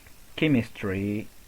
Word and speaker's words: chemistry: example chemistry school psychology and architects I repeat chemistry school psychology and architects we don't say chemistry